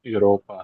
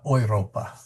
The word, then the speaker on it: Europa: So there's a tendency for an English speaker to say Europa, but is actually ouropa. The eu sound is kind of an oi sounding thing.